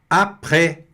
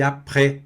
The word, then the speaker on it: après: Après, olha aí, après, mais uma vez o S não se pronunciando aqui, tá?